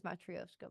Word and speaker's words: Matryoshka: Yeah, oh, that's what it is, Matryoshka dolls. I left out several syllables there, my bad.